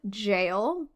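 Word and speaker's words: gaol: So lastly, let's chat about Kilmam jail. Jail is spelled G A O L just uh so you know when you're googling it yourself.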